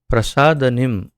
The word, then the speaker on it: प्रसादनिम: कुर्वन्ति करते हैं, आत्मा को, प्रसादनिम, ये शब्द के उच्चारण में थोड़ा ध्यान देना होगा, क्योंकि कभी जल्दी जल्दी पढ़ने जाएंगे तो कुछ और उसका उच्चारण गलती से हो सकता है। प्रसादनिम, जो प्रमुदित करने वाली